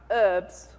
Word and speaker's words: herb: is it sorry american who's american in the room all right herbs there's no you don't pronounce h's here right um so just being